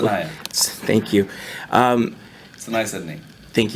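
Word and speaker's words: Saniyya: I can't ever pronounce the young lady's name correctly. Sanaya.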